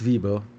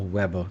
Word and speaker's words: Weber: um it uh well Max vber or Weber depending upon how you want to pronounce it um started to look